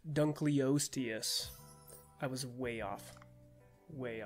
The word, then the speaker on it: Dunkleosteus: Oh, by the way, it is pronounced Dunkleosteus.